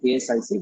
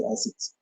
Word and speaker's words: ASIC: So we don't really spell it out as ASIC, we call it as ASICs.